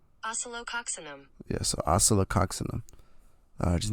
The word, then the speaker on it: Oscillococcinum: Here's the pronunciation. Oscillococcinum.